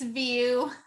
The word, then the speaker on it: Vieau: do you pronounce it it's v v but that's what everybody says so you got it right